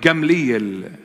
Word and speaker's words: Gamliel: Prior to bringing them to their council, one of the member of the Sanhedrin, the 70 elders, we pronounce his name in Aramaic, Gamliel.